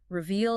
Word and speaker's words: reveal: Yes, and let's be careful with that word pair, reveal and review. Right, I hear those mixed up a lot. To reveal, stress on the second syllable, means to show something that was hidden.